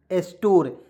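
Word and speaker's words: store: यहाँ देखिए साइल, एस ए आई L, soil, स्टोर, एस टी ओ आर ई, स्टोर, यहाँ पे ई को साइलेंट कर लीजिएगा, ठीक है।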